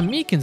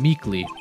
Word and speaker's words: Meekins: Actually, Officer Meekins at the detention center told us. Ah, that poor little doggy. Poor guy, I kept getting his name wrong and calling him Meekly.